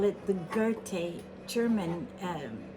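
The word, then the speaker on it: Goethe: It's a mother of pearl and gold with touches of pink and the very famous I think it's I call it the Gerte German.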